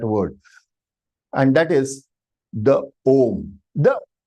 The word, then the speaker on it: Om: In yoga, they say no, it is oma, oma, oma. And that is for exercise purpose, please. The right pronunciation of the om is om. If you are extending too much also, does not serve the purpose.